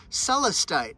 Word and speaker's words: Celestite: made in blue springs mississippi isn't that cool celestite that's how you pronounce it celeste gray it's named after a